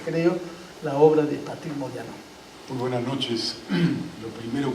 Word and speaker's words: Modiano: Pronuncio el apellido Modiano como lo pronuncia su propietario. También sabemos nosotros que Modiano es Modiano, es italiano, pero lo pronuncio Modiano porque así lo pronuncia él.